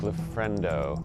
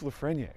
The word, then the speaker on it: Lafreniere: You're Luke Lafrendo. It's Luke Lafreniere.